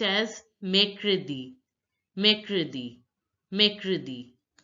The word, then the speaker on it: mercredi: Wednesday is pronounced as mercredi. Mercredi. Mercredi. The ER in French, the ER sound in French is air. Air.